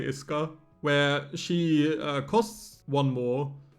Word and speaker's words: Isuka: The U in Japanese is always a bit weird because you tend to swallow it. So, I'm just going to say Iska where she costs one more and she bottom decks cards.